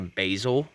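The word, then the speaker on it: basal: of has like a basil leaf arrangement i don't mean basil is in the herb it's actually spelled differently it's b a l basil even though it's pronounced the same that's the english language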